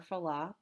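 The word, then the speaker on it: Fallot: not getting enough blood flow out to pulmonary circulation so there's two we're going to talk about and that's tricuspid atresia and terology of flow or fala people pronounce it differently the first effect we're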